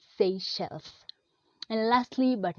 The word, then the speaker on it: Seychelles: really really tricky a lot of people say seizures actually the correct pronunciation of this name if say shells say shell so next time don't say officials say Seychelles and lastly but not least we have a